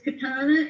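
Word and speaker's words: קטנה: A little is katana. So little sister is a koot katana. Aoot katana. Okay. Little for the little is katana and for big is good.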